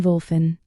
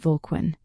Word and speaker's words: Volquin: "Ah, yes, Equin and Volfin. Nice to meet you." Egashi, however, politely corrected her. "It is Egashi and Volquin." Daisy, flustered, apologized and then charmingly mispronounced their names again as Exy and Volguin.